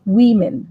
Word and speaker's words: women: Or if it is more than one, it's women, women, Women.